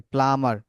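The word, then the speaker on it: plumber: তার, হ্যাঁ, তারপর দেখেন প্লামার, ঠিক আছে, প্লামার, বি সাইলেন্ট হিয়ার, এখানে বিটা সাইলেন্ট, প্লামার, পানির মিস্ত্রি, ঠিক আছে, প্লামার।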